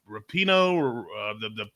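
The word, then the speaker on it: Rapinoe: I don't watch any of those judges shows, but Megan, how do you pronounce her last name? Rapino, the soccer player.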